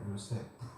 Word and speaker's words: 요세프: 본래 발음은 요세프입니다. 요세프.